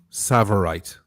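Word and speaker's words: tsavorite: Savorite.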